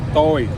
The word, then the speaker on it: tôi: we going to use going down mark. It's going down tone. It's mean. Okay. Can you say that? Yes. Toy. Tôi.